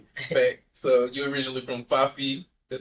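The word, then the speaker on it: Fyffe: So you're originally from 5 feet. That's how you say it? Five.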